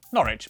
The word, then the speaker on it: Norwich: W at the start of the final syllable is silent. Norwich, Berwick, Southwark.